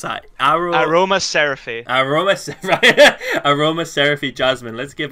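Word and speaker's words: Aromaseraphy: Well, how do you pronounce that? Aroma Seraphy.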